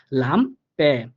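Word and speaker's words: Lampe: সেম ভাবে দেখেন লাম্পে, sorry লাম্পে, অর্থাৎ লাস্টে এ পাইছি এজন্য হালকা একটু এর মতো উচ্চারিত হবে, লাম্পে।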